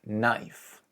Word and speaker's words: knife: Talking about silent letters, look at the word knife. K-N-I-F-E. This happens quite often, where you'll see the K is silent, like in the words know, knee, knowledge, and knuckle.